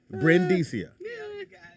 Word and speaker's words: Brendicia: Brendicia. You have to pronounce the Brimstone Brin and then Dicia.